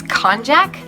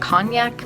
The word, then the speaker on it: konjac: I think it's konjac. I, for some reason, pronounce it cognac, but that's like a liqueur or something. So I'm pretty sure it's probably konjac.